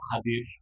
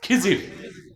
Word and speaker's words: খাদির: নেককার বান্দা তার নাম খাদির যারে আপনারা বলেন খিজির উচ্চারণটা কি আমাদের দেশের লোক বলে কি খিজির এটা ভুল উচ্চারণ শুদ্ধ উচ্চারণ কির মুসা নবী বলছেন আল্লাহ